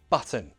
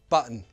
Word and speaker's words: button: First, true T. Mountain, button, bottle, water, hotel, better. Now the glottal T. Mountain, button, bottle, water, hotel, better.